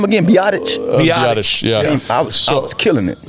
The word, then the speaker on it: Biadasz: All those guys seem to be How you pronounce that name again? Biadasz? Biadasz, yeah.